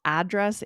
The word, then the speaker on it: address: that one is a little bit flexible in the Uh-huh. US. That one might be a little bit of an asterisk we'll put on that one because I've heard Americans say address and your address. I've actually heard both.